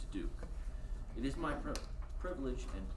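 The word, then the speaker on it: Diduch: For the record, my name is Kevin DeDuke. I'm the owner and principal attorney of Katie Law in Haddonfield, New Jersey. For the record, my last name is spelled D-I-D-U-C-H and pronounced DeDuke.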